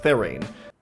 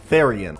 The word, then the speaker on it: Therian: One of the most common pairings was with Tornadus Therain. Is that how you pronounce Therain? One of the most common pairings was with Tornadus Therain. Therian.